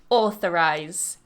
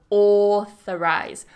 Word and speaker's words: authorize: it as authorize but authorize mind that th as well make sure your tongue is between your teeth or authorize authorize 20